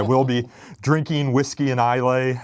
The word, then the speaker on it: Islay: Yeah, so I won't be recording podcasts there, but I will be drinking whiskey and Islay, or Isla, I think is how it's pronounced, pretending I know how to golf at St.